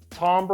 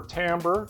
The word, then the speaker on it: timbre: Number 2 in the series was timbre or timbre, depending on how you like to pronounce it, which looks at the different sounds and structure of different instruments.